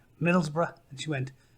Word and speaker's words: Middlesbrough: me where I was from, and I said, Middlesbrough, and she went, Middleburg.